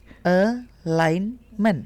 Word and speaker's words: alignment: Not e but eh eh jadi rileks. Alignment. Alignment gitu ya. Salah nih barusan saya nih. Alignment. Oke. No. Tapi alignment. Jadi stresnya ada di line-nya. L.